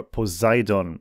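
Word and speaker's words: Poseidon: the German research vessel FS posidon or posidon as we would actually pronounce that here commissioned in the 1970s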